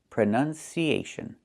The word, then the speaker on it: pronunciation: That's a short uh sound like cup and up. Prenun. Prenun. So the two first vowels are the same sound. Uh u prn closed and relaxed. Pron pronunciation not pronunciation.